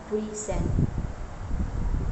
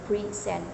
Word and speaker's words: present: on the first syel present in the word present as a verb meaning to s or give the stress is on the second syllable preent these variations and stress